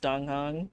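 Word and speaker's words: Dan Heng: I hate that his name is pronounced Donghang.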